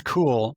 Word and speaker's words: Kool: And that's cool, not spelled with a C, but with a K.